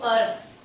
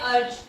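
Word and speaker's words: erg: इसमें वो बोलेगा कन्वर्ट 1 जूल इनटू अर्ग्स। अर्ग या अर्ज भी प्रोनाउंस करते हैं इसको, कन्वर्ट दोनों साइंटिस्ट के नेम।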